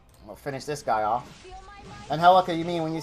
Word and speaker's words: Angelica: Angelica, you mean when you say... No, I'm not saying Angelica. I'm saying Angelica. Because I say Angelica, which is the Spanish pronunciation of it, is the...